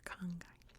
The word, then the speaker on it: Arkhangai: from what I can tell, it is all pronounced the same, Arkhangai.